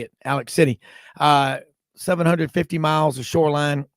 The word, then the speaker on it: Alex City: Alabama group kicks 96.3 Alexander City or as they say down in Alabama Alex City that's how you say it Alex City uh 750 miles the